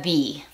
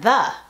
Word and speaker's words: the: Si la siguiente palabra comienza con sonido de vocal, se pronuncia the. Si la siguiente palabra comienza con sonido de consonante, se pronuncia the.